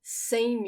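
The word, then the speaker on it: cem: example then you get all the way to same u notice when we have say and when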